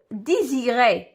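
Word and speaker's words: désirer: بونسمون كنطق اس غنمشيو ديزيري كما كتشوفوا اس جات ما بين دو فويال اي و اي وكتنطق زد يعني غنكتبها هنايا ديزيري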